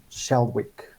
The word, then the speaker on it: Shalwick: so today we have we have gideon gideon shalwick am i pronouncing your surname correct you sure are thank